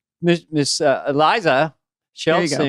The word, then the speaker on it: Iliza: it, when I walked up and said your name wrong, you took the mic and you go, "It's Eliza."